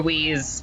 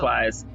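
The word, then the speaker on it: Weisz: Wise, thank you. Or Wheeze. I'm pretty sure it's Wise.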